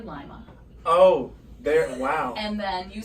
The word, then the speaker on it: Lima: to pronounce well so Lima is actually Lima oh wow and then